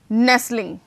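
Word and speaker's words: nestling: नेस्लिंग, नेस्लिंग, ठीक है। नेस्ट, T silent, नेस्लिंग।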